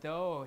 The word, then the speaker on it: though: So the word though here, this is how we pronounce it. This is the vowel, the nucleus. There's no consonant following it, so it's an open syllable. We don't care about the spelling, okay? Because GH here is not pronounced.